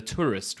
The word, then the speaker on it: Touryst: It's spelled TourYst. ST, yeah. I do believe that's tourist.